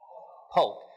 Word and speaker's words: Polk: There's a president's name that rhymes with Folk. What is it? Polk.